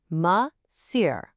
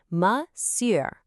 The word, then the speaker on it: Monsieur: It looks super tricky to read, but we actually pronounce it like this. Monsieur. Can you try that? Monsieur.